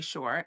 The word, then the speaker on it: Shore: Um, and for those of you who I haven't met before, my name is Shore. It rhymes with entrepreneur and I have been in the entrepreneurial space for 25 30 years.